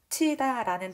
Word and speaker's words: 겉히다: 자, 거치다, 겉히다, 겉히다, 거치다를 선생님이 여기다가 한번 필기를 해보도록 하겠습니다. 거치다라는 단어를 발음할 때 이런 이제 순서를 가게 된대요. 겉히다, 그 다음에 거치다.